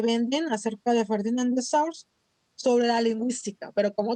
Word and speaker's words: Saussure: Saussure.